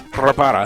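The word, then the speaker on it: Reparaz: But he just says Rapara. And it's like, oh, spelled like it sounds.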